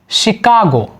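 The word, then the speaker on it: Chicago: जैसे French language के कुछ वर्ड यहाँ पर दिए गए हैं जिसमें CH का प्रोनाउंसिएशन शा निकल रहा है। जैसे मशीन, मशीन शा निकल रहा है ना, मशीन। शिकागो CH आया है ना, शा निकल रहा है, शिकागो।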